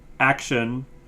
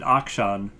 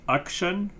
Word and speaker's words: Akshan: and I was like, I always pronounce it Akshan, but now I'm like, but is it? And then I looked it up, and it's supposed to be, it's definitely shun is the last part, but it's supposed to